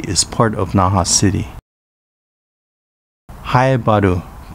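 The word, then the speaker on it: Haebaru: naha city pronounced nafa in uchinanguchi is the capital of okinawa prefecture shuri is part of naha city hayabadu pronounced fei badu in uchenanguchi is the only district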